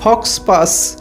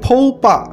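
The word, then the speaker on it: faux pas: Number 7 একটা ফরাসি expression, এবং তোমরা দেখো লেখার সময় আমরা লিখি FAUXPAS ফক্স পাস, কিন্তু সঠিক উচ্চারণ হচ্ছে ফৌ পা। এই ফৌ পা এর এক্স সাইলেন্ট থাকে এবং পাস PAS এর এস সাইলেন্ট থাকে। এই দুটো সাইলেন্ট থাকার কারণে আমাদের ফরাসি উচ্চারণ হয় ফৌ পা।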